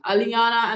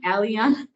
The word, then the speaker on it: Allian: Okay, Allian is how I say it. I was so confused about that one, because first I'm going like Aliana, and then I'm like Allian.